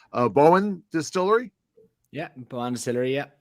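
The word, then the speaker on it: Boann: Correct me if I'm pronouncing this wrong, because the freaking Irish love to play with pronunciations. Bowen Distillery. Yeah, Bowen Distillery. Yeah, Bowen.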